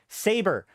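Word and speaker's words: Sabre: know EV on line there's a lot of people that actually pronounce saber wrong until they're being until they're directly corrected um and uh the they even made a joke about this on the office because it's saber Corporation but they misread it because they took it out of context and they just called it Sab until they were corrected if you try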